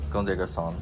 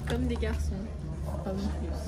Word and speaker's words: Comme des garçons: How are you supposed to say it? Comme des garçons. Comme des garçons.